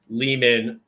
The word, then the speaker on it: Lehman: This was a lot of fun to get to sit down with Ari Lehman, rhymes with demon.